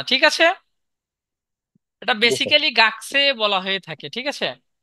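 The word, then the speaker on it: がくせい: যদি শব্দের মাঝে বসে কু যদি শব্দের মাঝে বসে তখন ক উচ্চারণ করলেও ভুল হবে না আবার আপনি চাইলে কু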